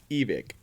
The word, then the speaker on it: Evike: Oh, and it's pronounced evict.